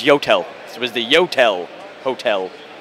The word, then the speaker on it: YOTEL: on 10th and uh 10th and 41st it's pronounced Hotel no it's yotel it was the yotel hotel and we actually